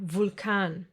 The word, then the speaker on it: Vulkan: But sometimes, just sometimes, it will be pronounced like the German W. Remember? V. Like in the words Vampir or Vulkan.